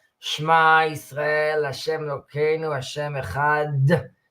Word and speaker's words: Echad: Shema Yisrael Hashem Elokeinu Hashem Echad, and you hmm pronounce the Daled to stress the ayin and the dalet, who together make ed, is witness.